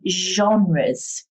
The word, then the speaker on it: genre: theme of the lesson we're thinking about film genres note that pronunciation genre now a genre means the type